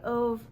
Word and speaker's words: Ove: is A Man Called Ove, A Man Called Uva. I've heard it pronounced a lot of different ways, but regardless, this book by Frederick Bachman.